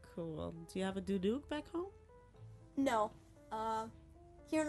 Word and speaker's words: duduk: I'm going to learn how to play a duduk.